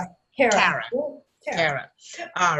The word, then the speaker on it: Kara: How do you pronounce it? Kara.